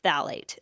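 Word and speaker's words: phthalate: literally says paraben and it literally says phalate. That is P H T H A L A T E. Phalate. Hard to say, but fun to say once you learn how to say it.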